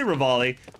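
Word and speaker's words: Revali: So do you say Rivali, like how it's spelt, or ravioli, like the food? I say Rivali, but we do have a joke where we call him ravioli as well.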